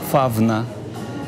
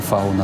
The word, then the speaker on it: фавна: Новий правопис пропонує і писати, і вимовляти так, як це було до 1928 року. Фавна, а не фауна, наприклад, так? Або, наприклад, лавреат, павза.